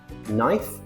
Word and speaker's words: knife: K is silent when it comes before N at the start of a word.